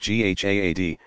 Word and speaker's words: jihad: what is jihad you jihad pronounced GHA ad comes from an Arabic